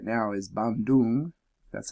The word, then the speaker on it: Bandung: The closest big city I see right now is Bandung. That's how you pronounce it.